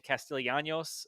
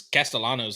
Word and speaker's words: Castellanos: um the FSU quarterback, still can't pronounce his name, Castillanos. Is it Anos or is it Anos? I mean, is a guy uh it's Castellanos, I think.